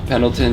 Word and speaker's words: Pendleton: That's how you pronounce it, right? Pendleton, yeah.